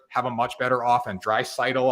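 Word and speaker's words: Draisaitl: a much better offense dry sidle i say his name wrong all the time but you know what there you go i said it right drive sidle and we look at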